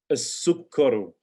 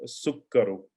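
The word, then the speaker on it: السكر: As-sukkaru, once again a sun letter. Seen as a sun letter. As-sukkaru.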